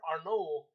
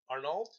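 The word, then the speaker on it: Arnault: after the chief Bernard Arnold Arnold oh no yeah you don't pronounce the T don't stop them I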